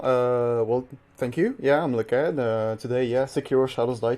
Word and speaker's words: LeCadd: This is a Shura-ending glitchless run of Sekiro, Shadows Die Twice, run by LeCadd, I believe is how you say that. Is that correct? Yep.